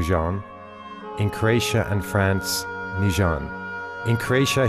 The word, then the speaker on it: Nugent: great britain he's called nugent in austria new zealand in croatia and france nijan in croatia he insisted on the simplified french pronunciation highlighting the importance of